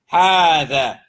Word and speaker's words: هذا: So when you see ha, it's like the alif is written on it. You pronounce it like alif is written on it, even though it's not written on it. هذا, singular, masculine.